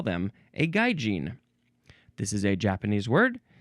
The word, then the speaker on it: gaijin: Next is gaijin, or could also just be gaijin. So gaijin, that's the first pronunciation, so that's what I'll say.